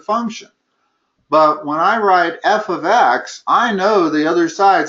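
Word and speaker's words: f(x): is, the way you pronounce that is f of x.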